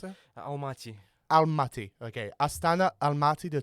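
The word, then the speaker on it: Almaty: then the second City remind me how you pronounce it Al mati almati okay aana almati the top two cities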